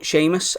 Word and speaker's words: Seamus: fourth patron for is Seamus moon now bear with me why has spell this it's an Irish spelling so as always there's far more letters than syllables but Seamus thank you very much